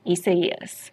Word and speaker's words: Isaias: extremely strange as well do you remember Isaias and everyone was like that's not how you pronounce it but there's also a pronunciation guide that the National Hurricane Center puts out and yes it was essay yes as strange as that pronunciation is but I digress all